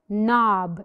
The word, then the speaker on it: knob: the first picture is knob it's a door knob did we mention the k no we didn't we did not mention K knob knickers knickers this